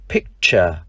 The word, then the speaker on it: picture: Ví dụ danh từ bức tranh, picture. Chữ T đọc là âm ch.